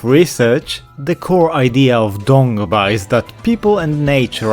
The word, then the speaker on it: Dongba: The language, and by extension the religion, is actually called Dongba, but phonetically it can also be read as Tomba.